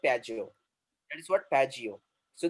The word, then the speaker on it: Piaggio: That is not Pago. That is what Piaggio.